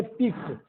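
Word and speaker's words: pique: Displeasure या एनॉयंस, outrage, पिक, इसको पढ़ेंगे पिक, याद रखेंगे उच्चारण पिक।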